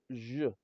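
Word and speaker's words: Ж: The pronunciation is zh, which is similar to the S in leisure or the G in beige.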